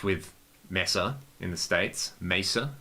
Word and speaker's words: Mesa: messa in the states mesa i guess is you know would be the correct pronunciation but we all say messer in australia and they put